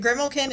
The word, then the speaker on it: Grimalkin: Yeah, and when you hear that, is it Grimalkin? Is that how I pronounce it?